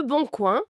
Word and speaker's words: Le Boncoin: Et pour trouver cette perle rare d'occasion, on peut demander tu as regardé sur le Boncoin ? Ah, le Boncoin. On prononce tuas regardé sur le Bon Coin.